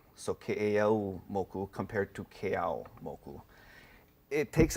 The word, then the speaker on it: Keʻeaumoku: So the appropriate way is Keʻeaumoku. Keʻeaumoku. Yeah, Okay. so there's the U that kind of tightens that O sound to a tighter U sound. So Keʻeaumoku compared to Keʻeaumoku.